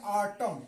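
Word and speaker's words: autumn: तो यहां आखिर में ये एन क्या होगा साइलेंट होगा इसलिए कि एम के बाद आ रहा है और रूल भी यही बता रहा है कि एम के बाद एन आए तो क्या होगा साइलेंट होगा तो इसको पढ़ेंगे आटम आटम मींस होता है पतझड़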